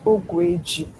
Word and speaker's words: Ogueji: Ogueji or something like that. So. Ogueji. All right. Hi, good morning. So the name is actually pronounced Ogweji. That's how it's actually pronounced.